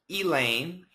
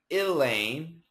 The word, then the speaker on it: Elaine: and actually another one eh Lane Elaine is possible too so this name can have four pronunciations and they're all okay Elaine Elaine Elaine Elaine